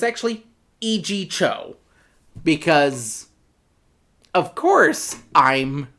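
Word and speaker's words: Yee Jee Tso: Because I am American and white, I just pronounced it the way it was spelled, according to American English. I was calling him Yi-Ji So, when it's actually E.G. Cho.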